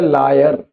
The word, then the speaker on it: liar: Accent है लायर, झूठा। यह है लॉयर। स्पेलिंग में फर्क है और एक्सेंट में, उच्चारण में भी हल्का सा फर्क है, पर मिलते जुलते से हैं।